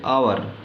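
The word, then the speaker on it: hour: अब यहाँ पे आवर, इसी एच का उच्चारण आ हो रहा है इसलिए एन आवर लगेगा।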